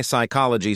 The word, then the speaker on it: psychology: Or why psychology starts with a P that no one even pronounces?